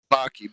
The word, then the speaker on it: Baki: I mean, Did you so say his name Imagine was that worked in real Pocky? life. Baki, Baki. Oh, Oh, not with a C.